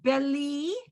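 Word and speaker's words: בלי: And then the next line, the first word, beli. Again, because it's the E sound, no pronouncing it.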